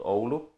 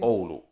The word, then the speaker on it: Oulu: part of the Finland in a city called Oulu. And by the way, our company's headquarters and the assembly line and factory is still there. So how do you spell that city? Oulu. Oulu. O-U-L-U.